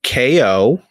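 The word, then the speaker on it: KAY/O: It's the character's name is KO, which it's a robot and it's spelled KAY/0.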